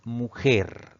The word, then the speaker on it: mujer: Si dividimos esta palabra tenemos dos sílabas. La mayor fuerza de voz recae en la última sílaba. Entonces es una palabra aguda, pero como termina en una consonante R, no debe llevar tilde.